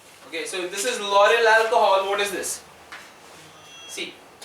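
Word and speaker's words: lauryl: also known as Laurel it is pronounced as Laurel use as La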